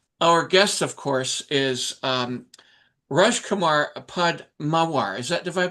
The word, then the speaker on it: Rajkumar Padmawar: Our guest, of course, is Rajkumar Padmawar. Did I pronounce that correctly?